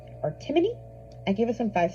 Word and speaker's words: Timoney: an update was My Husband's Child by Lisa Timoney or Timony? I give it a five stars. The author pronounces it or the narrator in the audio pronounces it Timony.